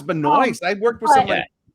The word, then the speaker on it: Benoist: it's pronounced a weird way, but It's it's Benoit. pronounced how it's spelled. Is it Yeah, Benoit? it's just Benoist. Oh, it's Benoist.